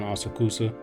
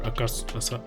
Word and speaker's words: Asakusa: I'm staying in an Appa hotel in Asakusa, or Asakusa, I think that's how you probably pronounce it, but this is my view.